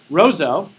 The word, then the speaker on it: Roseau: town uh that we came to learn is pronounced Roseau on the way to Roseau though we actually stopped because it was right